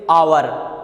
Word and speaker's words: hour: क्योंकि जब हम इसको प्रोनाउंसिएशन कर रहे हैं इस वर्ड को, तो इसको हम पढ़ेंगे आवर, आवर। तो आवर में आ का साउंड आ रहा है और आ क्या है, स्वर है, इसलिए आवर के साथ में एन